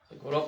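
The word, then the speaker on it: Agathonice: Kung titigan natin yung kanyang spelling, Agathonis. Agatonis pronunciation Agatonis.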